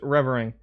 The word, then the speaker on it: Revering: Name is Revering. Accent is on the first syllable.